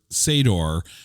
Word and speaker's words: Sador: John Saxon, who plays Rhymes with Vader, Sador.